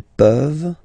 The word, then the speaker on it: peuvent: Tu peux, il peut, elle peut, nous pouvons, vous pouvez, ils peuvent, elles peuvent. Okay? As usual, this ending, this ENT ending, you write it, you don't pronounce it.